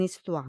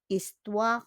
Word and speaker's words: histoire: Because on prononce pas le H. We don't pronounce the H in histoire, no?